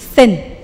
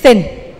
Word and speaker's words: thin: T, cara ngomong T, ujung lidah, ada ujung lidah semua? Di antara dua gigi. Sekarang saya mau lihat lidah di antara dua gigi semua. Oke. Lalu bilang T. T. Oke. Ini? Nah, ini beda. Kalau ini T biasa, kalau ini simbolnya di kamus seperti itu, thin. Can you say thin?